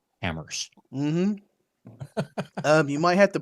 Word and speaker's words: HAMRS: There is no other logging software except for Hammers. That's spelled HAMRS. Hammers.